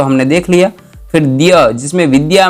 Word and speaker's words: द्य: का जो वर्ण होता है ध की तरह ही दिखता है, किंतु इसमें द और य जुड़ा हुआ होता है, ध नहीं जुड़ा हुआ होता है, द और य जुड़ा होता है। इसलिए इसका उच्चारण स्पष्ट क्या होगा? द्य होगा, द्य।